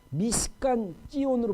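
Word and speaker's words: משכן ציון: 제가 눈이 몇 번 강조했지만 제가 예루살렘 기도의 집 지금 옛날 숫가다빗인데 지금은 이제 미시칸 찌온으로 바뀌었어요. 미시칸이라는 것은 장막이라는 뜻이고 찌온은 뭐냐면 시온이야. 그러니까 히브리 발음대로 미시칸 찌온 해갖고 시온의 장막이라는 이름으로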